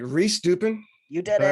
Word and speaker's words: Rehs-Dupin: Rehs-Dupin.